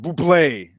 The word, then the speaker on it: Bublé: Bublé. He says born Bublé, pronounced Buble.